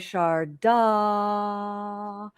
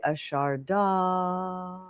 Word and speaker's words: Sharada: So I'll let you enjoy: Sharada, Sharada. And it's very tricky. We don't pronounce Sanskrit names the way we pronounce English names.